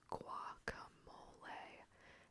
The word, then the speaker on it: guacamole: It is pronounced guacamole and should be served with chips or crackers.